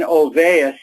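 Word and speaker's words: Olweus: young Professor at the University of Bergen Dan ovais is the way it's pronounced to do something about the problem and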